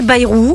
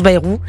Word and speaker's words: Bayrou: je vous ai dit berou ou Barnier je je m alors écoutez d'abord c'est Baayou alors je vais le faire aux autres aussi son vrai nom c'est Baayou ça se prononce Baayou il vient B ouais